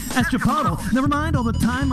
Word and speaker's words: chipotle: i could strangle it and throttle when it mispronounced the chipotle that's chipotle never mind all the time i'm spending in